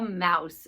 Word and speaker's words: mouse: So mouse has the ow sound, and the ow sound is O-U. And since the ow sound in mouse is in the middle, we spell it like this, M-O-U-S-E, mouse, mouse.